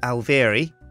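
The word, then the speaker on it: Alveary: our Apiaries into an alvary right alvary that's pronounced alvier now how do you make an alvary well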